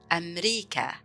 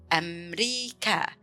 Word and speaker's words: أمريكا: It's similar how we say in English America, but in Arabic we pronounce it as أمريكا. أمريكا.